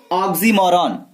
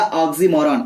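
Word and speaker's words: oxymoron: वो है ऑक्सीमोरॉन। क्या है? ध्यान दीजिएगा, ऑक्सीमोरॉन स्पेलिंग होता है OX, ठीक है, YMORON।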